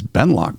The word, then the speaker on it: Benloch: a unit up here this ben lock place and of course it's spelled b-e-n-l-o-c-h not ck it can't be easy